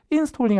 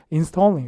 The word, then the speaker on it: installing: 그러니까 여기서 X인데 이건 맞는데 강세가 여기 있습니다. 그래서 발음하실 때 installing 아니라 거의 installing 이렇게 강세 뒤쪽에 빠져서 딴딴 때려줄 때 동사도 잘 들으셔야 되고, 또 길은 있었어요.